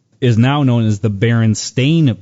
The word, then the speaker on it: Berenstain: now known as the berenstain bears but many people remember it being the Berenstein or Berenstein bears however you want to pronounce the STI n instead of s T AI N and there's a couple